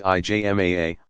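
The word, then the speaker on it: ijma: or to the consensus yzma pronounced IJ MAA of legal scholars but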